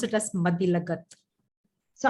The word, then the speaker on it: Mathilakath: You pronounce it as Mathilakat. So how do you pronounce? Mathilakat. L-A-K. No, it's okay. It pronounced as G-A-T-H. Yeah. Yeah, Mathilakat.